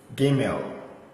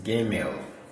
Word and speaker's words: Gimel: Gimel. This is Gimel. For this one, whether you see this or that, the pronunciation is the same.